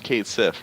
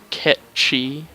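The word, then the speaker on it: Cait Sith: 13, who's just like a magic dog, and Kate Sif, right? yeah, Ketchi is people, as is actually pronounced, by the way.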